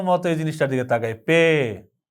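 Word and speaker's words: پے: পে পে আপনি খেয়াল করবেন আরবি যখন পড়তে যান আরবিতে কিন্তু পে নাই বা প ধ্বনি বলার মত বা উচ্চারণ করার মত কিন্তু কোন হরফ আরবিতে নেই কিন্তু এটা কিন্তু ঠিকই উর্দুতে আছে পে পে তো পে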